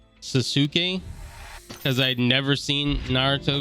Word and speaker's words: Sasuke: friend laughed at me, that a lot of times the Japanese, the U is pronounced, and I further knew that in the case of Shinsuke Nakamura.